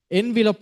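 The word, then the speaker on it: envelope: envop is the correct pronouncation of this word.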